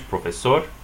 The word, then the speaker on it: profesor: Professor in Spanish, profesor. Stress the last syllable.